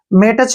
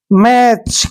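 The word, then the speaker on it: match: सभी को पता है मेटच नहीं पढ़ेंगे इसको टी साइलेंट रहेगा क्योंकि सी से पहले क्या है टी तो ए उरण हम क्या करते हैं दोस्तों में और टी साइलेंट रहेगा सी एच का लिखेंगे च ऐसे मैच क्या हो जाएगा मैच मैच मींस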